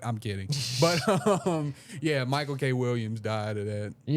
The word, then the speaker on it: Michael K. Williams: I think uh Mike K. Williams. Wait. Yeah. Michael, you you saying it right? Michael K. Williams.